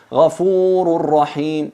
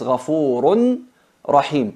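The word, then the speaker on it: غَفُورٌ رَحِيمٌ: En realidad es ghafurun rahim, pero por la dificultad de pronunciar la nun y la cercanía al punto de articulación de la ra y nun, se fusionan completamente.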